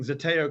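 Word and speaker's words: Zeteo: a long time and thank you for a pronouncing Zeto correctly Shameless plug Zeto and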